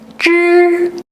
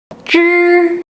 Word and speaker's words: 之: Raise the tongue tip to the hard palate and then slightly release to allow air flow. Practice by repeating 之, 之.